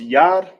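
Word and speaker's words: יד: hand in English in the ancient is called it sound it's pronounced yad in ancient spelled from right to left yad ya and da knock off the a cuz it's connected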